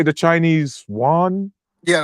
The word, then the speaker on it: yuan: Iranians through how do you say the Chinese yuan? Yeah, the one.